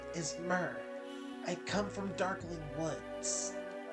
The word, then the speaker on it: Myrrh: It's pronounced Myrrh. I'm not doing that. Aww. One of Grotto's commandos. She was last seen heading east. Who was last seen heading? Myrrh.